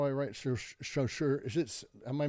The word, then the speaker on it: Saussure: It's Saussure.